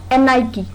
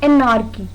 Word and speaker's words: anarchy: Our first word is anarchy. It's not anarchy. In this word, R is silent.